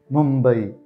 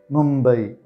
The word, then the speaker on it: Mumbai: this is how they pronounce the name Mumbai Mumbai Mumbai is the name of the Indian city known